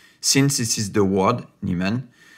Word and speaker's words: Neiman: this is the word niemann pronounced neyman in france which means a forklock